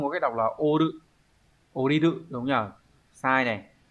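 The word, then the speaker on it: 降りる: Đúng rồi, oriru. Và số 4, đây là chữ di. Chữ di này đọc là utsuru.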